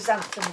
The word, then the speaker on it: xanthan: half a teaspoon of xanthan gum, which you've heard me talk about before, and you normally find it on the free from aisle, and it's spelt with an X. X-A-N-T-H-A-M or N. Xanthan.